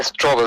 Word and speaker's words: Strobel: Lee Strobel, se llama Lee, el nombre, y Strobel se escribe Stropel.